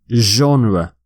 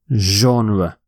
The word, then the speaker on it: genre: You say genre, genre, zh, which is a difficult, not a common sound in English, genre.